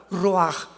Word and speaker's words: ruach: La palabra para espíritu en el hebreo es la palabra que es ruach, que se escribe ruach con CH, pero repito, se pronuncia como J, ruach.